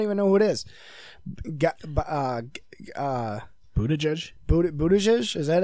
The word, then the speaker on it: Buttigieg: Buttigieg? Buttigieg? Is that how you pronounce it?